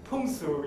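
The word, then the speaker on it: 풍수: it is about briefly the punsu in korean or sometimes we use pongsujiri but that is a kind of korean way of pronouncing chinese concept called the fungus but the chinese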